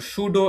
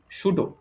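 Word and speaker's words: pseudo: খুঁজতে চাচ্ছি ক্লিয়ার সবাই আচ্ছা এইবার দেখ সুডো এনমস সুডো কথাটার মানে কি পিএসই ইউডিও এখানে পিটা কিন্তু উজ থাকবে উচ্চারণ হবে না সুডো উচ্চারণ হবে পি এসই ইউডিও সুডো সুডো কথাটার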